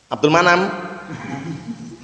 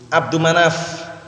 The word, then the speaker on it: Abdu Manaf: Abdul Manam. Yang bacanya jelas, kalau enggak jelas ini keliru. Siapa? Jangan kasih al. Abdu Manaf.